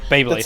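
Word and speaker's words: Baeblade: Beyblade. That's it. His name is Beyblade. His name is Beyblade. But it's spelled B-A-E Blade.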